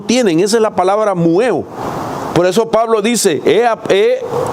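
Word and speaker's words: μυέω: enseñado, es una palabra del griego que se pronuncia mueo. Y esa palabra, mueo, viene de otra raíz.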